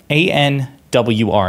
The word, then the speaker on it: ANWR: So he's referring to ANWR, A-N-W-R. It's an acronym. It's pronounced ANWR.